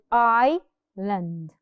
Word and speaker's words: island: first example Island Iceland Iceland no we do not say it like that we say I land I learned silent the S is a silent letter now another word I